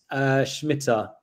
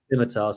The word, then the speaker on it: Scimitar: But yeah, funnily enough, we've got potentially one of your favorites, Reliance Schmitter. How do you pronounce it? Scimitar, sorry.